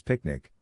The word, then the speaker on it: PQNK: PQNK to be pronounced as picnic which stands for Peter Trinisam cash outari and means the regenerative and sustainable pristine organic farming system.